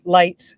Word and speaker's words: Lytt: It's spelled Lytt, and it's originally a Norwegian word, and so it's pronounced light.